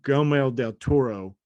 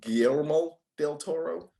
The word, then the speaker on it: Guillermo del Toro: there ain't no way there's no way that gomel del toro produced this clearly hold up you butcher you butchered his name too gail guillermo del toro listen people know who i'm talking about whether